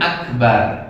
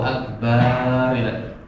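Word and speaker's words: أكبر: Kemudian akbar ya. Akbar itu semuanya pendek.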